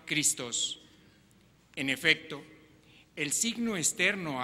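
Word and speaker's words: Χριστός: unción en el ungido que en griego se pronuncia cristos en efecto el signo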